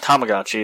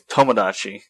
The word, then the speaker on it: Tomodachi: Yeah, it's not Tamagotchi. It's Tomodachi.